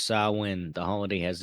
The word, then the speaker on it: Samhain: Pronounce sawin.